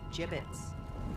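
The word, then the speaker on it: Jibbitz: Jibbits? What? It's pronounced gibbits.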